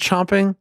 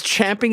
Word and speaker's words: champing: me it's spelled but isn't it pronounced chomping no it's champing at the bit because the phrase um